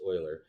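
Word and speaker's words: Euler: I know it looks like Uler, but it's it's Oil. It's pronounced Oiler.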